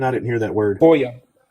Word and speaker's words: FOIA: can you spell that request again? I didn't hear that word. FOIA, it's FOIA.